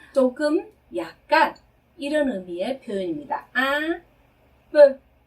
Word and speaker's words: un peu: un peu, un peu 이렇게 발음해요. 네, un은 하나의라는 뜻의 부정관사죠. 그런데 발음은 이렇게 발음하셔야 돼요. 발음하시다가 코로 올려서 하는 발음이죠. 네. 그리고 아까 말러그 할 때 그 발음입니다. 입술을 한 상태에서 에 소리를 내는 거죠. 그래서 이렇게 발음하셔야 되고요.